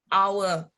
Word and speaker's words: hour: Yeah, even this is consonant, yeah, we put N because how we pronounce that the first word that comes is hour, hour, yeah, so that an hour, a quarter of an hour.